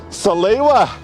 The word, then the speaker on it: Salewa: Salewa. Yeah. Is that how you pronounce it?